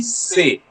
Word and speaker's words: C'est: The pronunciation will be say. C apostrophe est. It will be pronounced Say. as say. C'est.